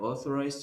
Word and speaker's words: authorized: Yes, you say O because the letter A and the letter U produce that sound.